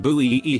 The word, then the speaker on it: buoy: ] out of me we pronounce it buoy e here are you calling